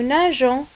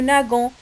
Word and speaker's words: nageons: N'oublions pas qu'on doit laisser le E pour la prononciation. On dit nous nageons. Mais si on va oublier le E là, ça va être nous nagons.